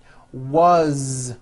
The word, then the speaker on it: was: and a crazy language all these words that I'm going to show you now are written with an S however they are all pronounced with a voice Z why this is I